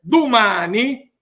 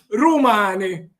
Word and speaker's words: domani: Por lo tanto, mañana, que en siciliano se dice y se escribe domani, se puede oír también a alguien que lo dice rumani, o el numeral 10, que quiere decir 10.